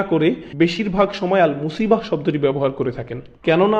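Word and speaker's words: مصيبة: এরপর আবার শব্দটির শেষে রয়েছে তা মারবুতা, যে জন্য আমরা মুসিবাহ উচ্চারণ করি, মুসিব না কিন্তু।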